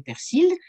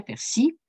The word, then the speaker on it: persil: moi jouons un dimanche je dirais jamais persil je dirais persie ils voient ce mot